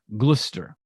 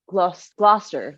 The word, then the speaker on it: Gloucester: Proprietors of the city Steam Mills in Gloucester glister I don't know if I'm pronouncing that right g-l-o-u-c-e-s-t-e-r Gloucester Gloucester Gloster Gloucester right with the dialect you got to